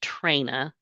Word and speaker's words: Trena: And just for one quick correction, my first name is pronounced Trina.